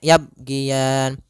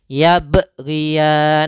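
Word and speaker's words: يبغيان: pertama dia tidak memantulkannya misalnya yabgian nah itu dia kurang tepat yang kedua menambahkan Hamzah ini kesalahan Juga misalnya yaban nah ini juga kesalahan yang sing terjadi atau dia putus yaban Nah harusnya dia tetap mengalir berjalan dan tidak boleh putus kemudian palfalan sendiri ada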